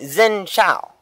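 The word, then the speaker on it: Xin chào: It would be Xin Chao. Okay? It's, honestly, I can't remember how to spell it.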